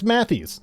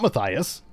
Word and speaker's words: Mathies: Yeah, it's Mathies, not Matthias. Either the wife is lying or she never learned to pronounce his name or it's a typo.